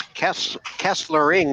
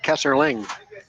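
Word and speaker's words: Kesslering: one too as well it's Kessler ring not Kessler Ling yeah Kessler ring and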